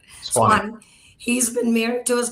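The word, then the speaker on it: Suwanee: A lifelong Georgia resident, originally from Clarkston and now in Swawini. I pronounced it wrong. Swanee.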